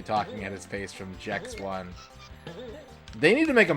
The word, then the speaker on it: Gex: The creator said he wanted it to be pronounced Jex. Yeah. I know he's a gecko, but that's too on the nose. His name is Jex.